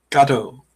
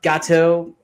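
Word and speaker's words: Gatto: Um I apparently said it wrong when we were off camera, but it's about a cat. Gateau. Gateau. I said Gate. Uh Gateau.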